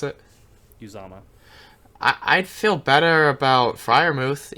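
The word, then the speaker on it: Uzomah: How do you pronounce it? Uzama.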